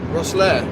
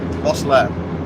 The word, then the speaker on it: Rosslare: How do you pronounce it? Rosslare. Rosslare. Rosslare.